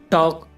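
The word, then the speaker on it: talk: टॉक, टॉक में देखो guys, के से पहले एल आया हुआ है तो एल साइलेंट है इसमें और इसकी हिंदी है बातचीत।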